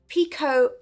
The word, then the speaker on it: picot: something known as a picot edge it's spelled p-i-c-o-t so it's spelled picot but it's pronounced Pico because it's probably french and the French like